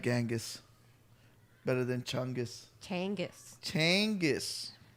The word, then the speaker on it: Genghis: like to feel like genghis khan you know i obviously like side note i once saw a youtube video that they said the name is actually changus khan changus yeah that